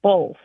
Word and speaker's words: both: The word is both, as in either or both. And it seems like there's an L that gets added to it, so it's pronounced bolth around here.